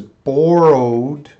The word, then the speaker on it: borrowed: wet no this is borrowed world or road bore road you see that E at the end has no sound borrowed borrowed alright I